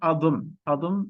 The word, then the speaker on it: Adım: So it's Adım Ahmet. Try to pronounce after me, okay?